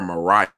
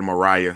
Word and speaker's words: Maria: is spelled right so it spelled maria but the way i learned about her they call her mariah stewart so i don't know it spelled like maria i heard mariah so we're going to say mariah because that's how our professor taught us but i believe i